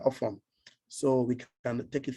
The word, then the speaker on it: Ofon: Ofon is spelled O-F, off, O-N, on, off and on, joined together, Ofon.